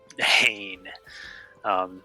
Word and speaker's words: Hane: Just to clarify the naming, because I had mispronounced it before, it's Hane is what he named the